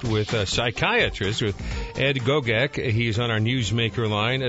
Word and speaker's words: Gogek: Am I pronouncing your last name correctly? It's Dr. Gogek. Gogek.